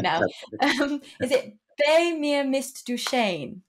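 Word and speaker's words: Bei mir bist du schön: your second song now, which I butchered the pronunciation earlier. I'm going to try and say it right now. Is it Bei mir Mist du Shane? Bei mir Mist du Shane.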